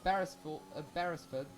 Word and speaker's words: Beresford: Ludwig Beresford. Beresford. Yeah, that's correct pronunciation. Definitely.